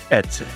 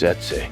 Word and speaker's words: Eze: It's Easy E. We're not really sure how to pronounce it, but we think it's Etze. Etze.